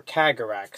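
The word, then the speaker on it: Kahgarak: This is the Kagerak, or Kagerak, sometimes pronounced.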